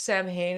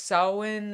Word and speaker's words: Samhain: Well, she explained that it was like I don't think it's Samhain. It sounds like that, but it's Samhain or something like that.